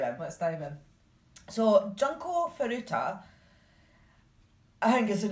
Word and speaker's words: Junko: is junko junko f but I've heard her being called jenko so I'm not but I when I did actually look up the pronunciation it was junko right so I'm just